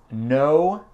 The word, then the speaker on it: know: Après, on a know et know. Et ça veut dire savoir et non. Et je ne sais pas pourquoi on a la lettre K qui est silent, qui est muet.